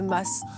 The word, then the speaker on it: Mas: Et attention, pour ceux qui hésitent encore ou qui n'auraient pas tout à fait l'accent du Sud, il n'y a pas de doute à avoir sur la prononciation. Oui, moi je dirais le Mas. Ah, moi je dis le Mas parce que je suis du Midi. Le Mas, en Provence, il n'y a pas d'hésitation, c'est le Mas.